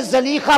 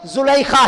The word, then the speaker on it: زلیخا: یہاں علماء کہتے ہیں کہ یہ زلیخا بروزن حسینہ ہے کہ وہ اتنی خوبصورت تھی کہ اس دور میں کوئی لڑکی اتنی خوبصورت نہیں تھی. بہرحال تحقیق یہ ہے کہ ان کا نام کا صحیح تلفظ زلیخا ہی ہے، زلیخا ہی ہے.